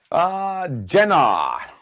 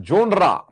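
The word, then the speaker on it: genre: Humanism का मतलब है, सुनना भाई, जेनर और जोनरा। आजकल एक नया वर्ड आया, जोनरा। तो जोनरा वर्ड हमें नहीं बोलना है, उच्चारण की बात है, मीनिंग वही है, जेनर।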